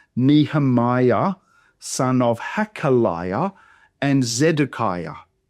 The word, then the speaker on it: Zedekiah: So in Zedekiah the final syllable there it starts with a vow. Ah starts with a vow but in the Hebrew it's actually a Y ah. So y z a kaya.